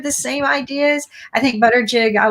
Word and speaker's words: Buttigieg: I think Buttigieg, I like his health plan better than your Southern accent is coming out when you're pronouncing his name. Buttigieg.